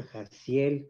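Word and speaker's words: Haziel: Y después vamos con el noveno ángel que se llama Jaciel, que significa Dios de la misericordia. Jaciel, y se escribe Hazil, para la gente que quiera buscarlo, es el ángel Jaciel.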